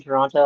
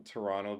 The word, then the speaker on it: Toronto: I know that you're not like from Toronto because you pronounce the second T.